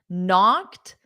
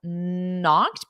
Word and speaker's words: knock: Now, notice what this student did is he spelled it as knocked because the K is silent.